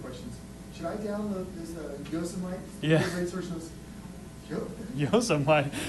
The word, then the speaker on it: Yosemite: it's pronounced Yosemite, not Yosemite, but My sister-in-law, who's a lawyer,